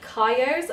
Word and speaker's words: Kyo: Okay, so the first pair of jeans I have to share with you are the Kyos. I believe that's how it's pronounced. K-Y-O, Kyo.